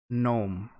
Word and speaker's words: gnome: the most important thing silent g gnome okay i see why do people add words you don't pronounce silly um yeah well